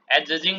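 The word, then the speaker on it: adjudging: एजजिंग बोलते हैं डिसाइलेंट रहता है।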